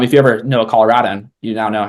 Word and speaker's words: Colorado: The state Colorado, we say Colorado. It's rad as in cool. Not Colorado like a rod. That's wrong. You're false. So, um, if you ever know a Colorado, you now know how